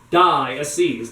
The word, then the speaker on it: diocese: parish but i mean diocese the first syllable in there is die die a seize they're all dying and